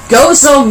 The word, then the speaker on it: Gozo: Gozo, Malta. I didn't stutter. It's really Gozo.